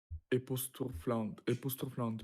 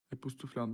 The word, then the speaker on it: époustouflante: Et vraiment époustouflante, oui. Epoustouflant, fascinating. Époustouflante. Epoustouflante. Without air pronunciating, right? There is no air.